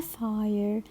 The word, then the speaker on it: fire: Pay attention, my dear students, to long I in the word fire. Fire. This is long I. It's letter I, which is followed by letter E. So I will pronounce letter I as if I see letter A before letter I. So it will be fire. Fire.